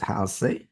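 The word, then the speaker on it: ἅλς: So the root word, which is this number 2 here, is actually pronounced as halse.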